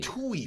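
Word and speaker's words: Tuohy: that yo go and find out Joey the Tui family the Tui family first of all I'm glad you said it because I butchered the hell I wasn't even going to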